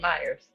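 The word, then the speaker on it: Meijer: Cuz I They not Myers. Yeah, it's it's called Meyers. I want to make sure I'm saying it right. Myers. Yeah, Meyers.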